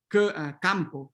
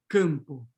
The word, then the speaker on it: campo: We wouldn't have campo, but campo.